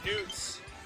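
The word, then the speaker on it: Noot: Just Newt. Newt? Newt. How do you spell that? N-O-O-T, like boo, with an N.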